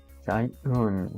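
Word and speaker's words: شيءٌ: Alright, it's a glottal stop, so it's Shayun, right?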